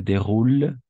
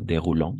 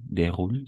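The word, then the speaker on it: déroulent: Se déroule, no déroulant, déroule solamente. ENT no escuchamos, no pronunciamos, de hecho.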